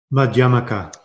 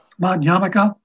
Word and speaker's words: Madhyamaka: How do you say Madhyamaka? Madhyamaka. Madhyamaka. I like the yamaka. It's kind of like the thing you wear in your head.